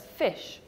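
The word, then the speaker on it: ghoti: The answer is fish. And that's because you've got the f sound, the GH, as in tough.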